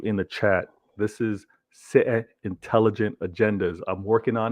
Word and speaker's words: Citeh: Trust me, all of you in the chat, this is Citeh Intelligent Agendas. I'm working on it. The T is silent. Citeh Intelligent Agendas.